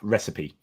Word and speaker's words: recipe: looks good yeah uh English pronunciation lesson is recipe just to instead of reite recipe just sort help you